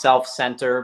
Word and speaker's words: Cell-F Center: is meant to be pronounced self-center, but it looks like cell, like cells of the body, hyphen F.